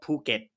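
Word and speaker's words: Phuket: It's not. It's called puket. But for some reason, they print it out in phonetics as ph which does give the impression that you pronounce it it.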